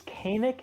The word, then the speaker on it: Kainik: It's Kynic because you know a people usually use the soft A.